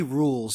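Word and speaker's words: Rouxls: It's actually rules. You don't have to pronounce the X.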